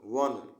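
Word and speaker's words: one: dash वन sided game वन देख ओ एनई वन जो है वो भवेल है लेकिन इसका उच्चारण कंसोनेंट की तरह हो रहा है इसलिए इसमें ए हो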